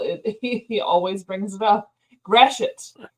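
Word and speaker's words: Gratiot: always brings it up grash it grash it straet I feel like it' be grat or something I know and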